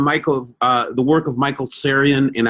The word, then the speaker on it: Tsarion: the work of Michael Syrian and I hope I'm pronouncing your name right to Syrian right oh yeah yeah and then and then